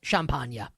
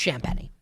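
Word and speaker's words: Champagnie: skit of skits says Champa. That should be how you pronounce his name. But it's Champi and he misses the free throw and then they don't get the rebound on the second miss.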